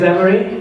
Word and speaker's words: Imre: So my name is Imre, and it's spelled just like you would expect it.